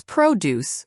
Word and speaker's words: produce: That's produce with stress on the first syllable is where you find fresh fruits and vegetables.